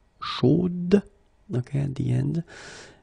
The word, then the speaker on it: chaude: And then the pronunciation will change a little bit. Chaude. So here you pronounce the final D, whereas in the masculine form you don't pronounce it.